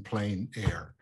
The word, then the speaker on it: plein air: but like i said i'm from kansas so i'm gonna just pronounce it the kansa the old kansas way so i'm gonna probably be seeing in plain air so um for me